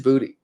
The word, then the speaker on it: Boutte: It is Boutte apparently, and I was saying it wrong for a long time too. It is Kayshon Boutte.